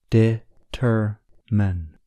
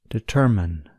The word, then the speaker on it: determine: Determine. The stress is on the second syllable, ter. Listen and repeat after me. Determine. Determine.